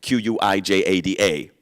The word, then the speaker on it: Quijada: Quijada spelled with a Q, not a K, not spelled with an H, but a J. Quijada.